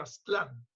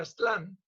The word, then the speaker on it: Aztlán: Que los mexicanos venimos de Aztlán, que además está pronunciado Aztlán como en español, porque debería ser en Aztlán, en náhuatl, pero bueno.